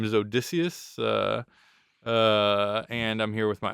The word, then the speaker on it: Odysseus: It shouldn't be Odysseus. I mean, that's the English pronunciation. It's actually Odysseus.